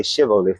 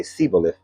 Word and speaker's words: Shibboleth: And when they try to cross over this land area, they have to say the name Shibboleth, and they don't say Shibboleth, they say Siboleth.